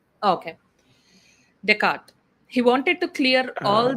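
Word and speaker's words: Descartes: Decart being one of them. Uh the name is written t e s c a r t e s because he's French it is pronounced teart.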